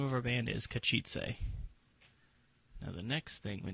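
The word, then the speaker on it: Katowice: Oh, hold on, it's got a little pronunciation thing. Maybe they can tell us. Oh, they even play it. Kachitze. Kachitze? Kachitze. Kachitze is how that's said.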